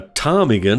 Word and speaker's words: ptarmigan: In some words, the letter P appears but is not heard. We call this the silent letter P. The silent letter P comes before certain letters, the most common of which are N, S, T, and B.